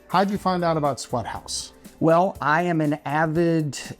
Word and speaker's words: SWTHZ: different and fun yes the place is called Sweat House sweat house but it's spelled like this there's no vowels in it or anything like that so you're going